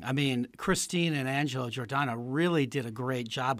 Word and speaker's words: Giordano: And did I pronounce that correctly? The Giordano Theatre. Yes, okay, Giordano.